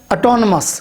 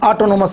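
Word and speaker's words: autonomous: छठे नंबर पर एक वर्ड है ऑटोनमस, खुद मुख्तार। इसको भी अक्सर स्टूडेंट ऑटोनोमस पढ़ देते हैं, तो ये लफ्ज़ आप इसको करेक्ट कर लें, ऑटोनमस है।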